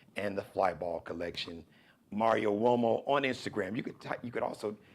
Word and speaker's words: Uomo: Now Uomo, it's got the wo, like W-O sound, but it's spelled with a U.